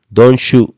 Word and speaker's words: don't you: Si se fija, la pronunciación del pronombre you, you, es un tanto distinta. No es don't you go, don't you go, no, sino que suena como don't shoot, don't shoot.